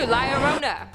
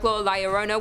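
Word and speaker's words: La Llorona: in and number two Larona hailing from Hispanic Folk Liona which I'm pronouncing correctly now after you guys yelled at me in a previous video is also known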